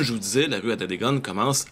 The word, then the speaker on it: Atateken: Je suis sur la rue Notre-Dame, au tout début de ce qui est la rue Adadegan. Ben oui, je vais vous dire pourquoi ça se prononce comme ça un peu plus tard.